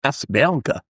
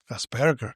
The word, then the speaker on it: Asperger: Viennese, and it's a hard G. It's a G rather than J.